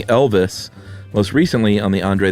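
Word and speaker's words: Elwes: Elwise, I posted I had read on a Reddit AMA his name sounds like Elvis, but what I meant to say was it rhymes with Elvis.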